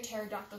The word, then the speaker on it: pterodactyl: Why can't you hear a pterodactyl going to the bathroom? I don't know why. Because the P is silent.